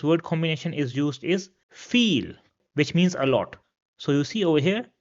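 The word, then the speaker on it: viel: And this is pronounced as e in English.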